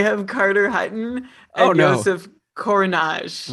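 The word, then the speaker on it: Kořenář: Okay, so they have Carter Hutton and Joseph Korenar. Right, they traded Hill for Korenar. Right. Or I think it's pronounced Kajanash. I think both R's are Zhuz.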